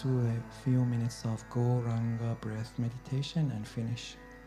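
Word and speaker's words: Gauranga: We just do a few minutes of Goranga breath meditation and finish. Goranga has 4 syllables. This wonderful mantra has 4 syllables. Go, ra, an, ga.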